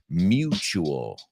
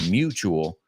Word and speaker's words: mutual: Vamos a pronunciar esa, por favor. Mutual. I know it's similar. Mutuo. Mutual. La U es you. Mutual.